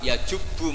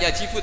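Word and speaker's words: يجبّ: Terus Nabi ngendikan al-Islamu yajubu ma qablah. Itu bacanya bukan yajibu tapi apa? Yajubu ayaktau.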